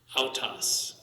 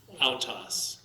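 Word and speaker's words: αὐτός: An alpha and upsilon is going to be ow. Ow, yeah, Faust. Autos. Autos.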